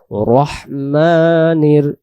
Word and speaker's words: রাহিম: এক আলিফ টান দিব রহমানির রহিম আর যদি আমরা রহিম রহিম পড়ি তাহলে এখানে ইয়া অক্ষরটা বাদ চলে যাবে ইয়া অক্ষরটা যদি বাদ